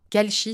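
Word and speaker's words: Kalshi: Donc si vous le souhaitez, n'hésitez pas à télécharger l'application Kalchi, s'écrit K A L SH I.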